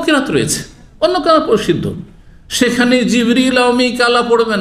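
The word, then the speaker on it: جبريل: ওহী নিয়ে আসে কে জিব্রাইল আলাইহিস সালাম জিব্রাইলের নামের দুটো উচ্চারণ রয়েছে জানেন না জানেন না আমাদের দেশে শুধু জিব্রাইল উচ্চারণটি প্রসিদ্ধ তাই না কিন্তু হাদিস কোরআনে কি রয়েছে জিবরীল কি রয়েছে জিবরীলা মিকালা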